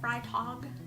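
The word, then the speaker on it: Freitag: blog if you would like to say fry talk at the pen slayer that's how you pronounce my last name by the way fry talk ride dog fry talk as a pen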